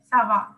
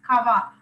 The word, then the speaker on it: ça va: It's there, Sava. If you write C there instead of the Sedi, you will pronounce Kava.